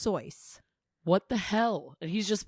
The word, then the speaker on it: Seuss: Seuss's name cuz it's now dr. Seuss what his last name is pronounced sois no it's not it's pronounced sois what the hell he's